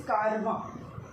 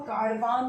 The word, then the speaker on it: caravan: इसमें हम बात करेंगे सबसे पहले, एज per your book, it इज़ कारवां. पहला है CARAVAN. इसको कारवान नहीं बोलना है, इट इज़ कारवां. Pronunciation is कारवां, कारवां, कारवां.